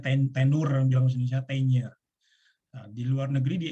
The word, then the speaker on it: tenure: berlakunya disebut dengan Tiger tulisannya tenure bacanya tenure belum satenya di luar